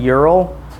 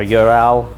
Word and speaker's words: Ural: You're looking at a 1997 Ural. Yeah, or Ural. Yep. However, which way you want to pronounce it.